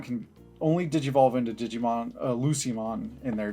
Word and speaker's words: Lucemon: The next one, is this a hard C or soft C? A Lucemon? It's a Lucemon. A Lucemon is a soft C.